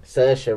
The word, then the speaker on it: Saoirse: that same lady but anyway yeah Roman Oh Sasha Ronan Saoirse Ronan laughter yeah I'm very sorry so in